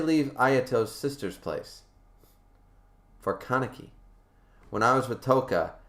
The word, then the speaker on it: Kaneki: i see it now i don't want to say kanaki i want to say kaneki yet